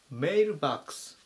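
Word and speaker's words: mailbox: なります 925 番 mail バックス mail バックス発音に注意ですねメールではなくてメイルという風に読みます郵便ポストとか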